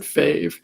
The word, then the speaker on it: FAV: Fav, or I guess you would pronounce it Fave, was added to NWL.